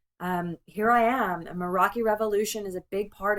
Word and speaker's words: Meraki: Here I am a maraki revolution is a big part of that and maraki can be pronounced actually it's a Greek word so um I have been told it sounds more like madaki and it means to